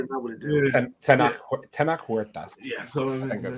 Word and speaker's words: Tenoch Huerta: I think it's Tenoch Huerta. Huerta? Tenoch Huerta, I think, is how you say his name. Yeah, that sounds good. That's probably better than I would have done. Tenoch Huerta.